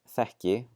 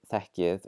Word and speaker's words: þekki: If you remember from my pronunciation videos on the letters K and G, when they're followed by a front vowel, they are pronounced as if there is a J in there, so we don't actually need to write it here.